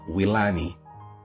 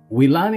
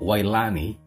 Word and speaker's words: Wilani: sa akin ang spelling ng pangalan kong willan willan ang bigkas niyan diyan sa Pilipinas Pero dito sa abroad naging wani dahil nga sa Americano